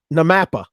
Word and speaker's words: NAMAPA: there's a blooper reel of people trying to pronounce their acronyms. So I'm just going to say NAMAPA.